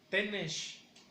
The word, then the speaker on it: tenesh: Y lo pronunciamos como tenesh.